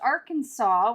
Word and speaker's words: Arkansas: You know, why is it pronounced Arkansas when it's spelled like R Kansas?